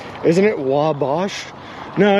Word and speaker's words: Wabash: it wrong isn't it wabosh no it's like they they just really elongate the the wa so it's like wow that in wabash it's really weird